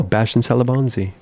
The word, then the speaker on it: Bastien Salabanzi: here rolls off your tongue yeah I know bastien salabanzi is that how you pronounce it though in that's it that's it